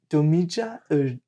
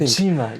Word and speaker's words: Dojima: Domija. Oh man, I butchered her name. It is. Yeah. What's her name? It's like Dojima, I think. Dojima, yeah. Dojima. He's Dojima's. That's her last name. That's right. It's like Dojima Sensei, and she is bitter.